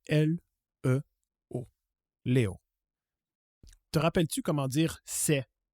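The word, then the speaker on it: leo: Aujourd'hui, en swahili, on dit Léo. Ça s'écrit L-E-O. Léo.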